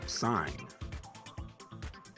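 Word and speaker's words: sine: is a mathematical word sign it is actually pronounced yup sign it is a a trigonal trigonometric function that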